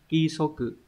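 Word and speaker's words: 規則: Cái này phải là ki số cự.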